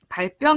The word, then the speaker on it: 발병: 바른 생기는 병을 말합니다 발병 이라고 발음합니다 아 네 알아주세요 그럼에